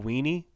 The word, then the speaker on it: Una: Or I think Oonie. I think it's actually based on what I saw on the roster pronunciation list last year. I believe it's actually like Michael Weenie.